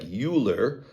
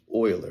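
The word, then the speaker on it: Euler: art this one's called Oiler disc it looks like uler but it's pronounced Oiler is a mathematician and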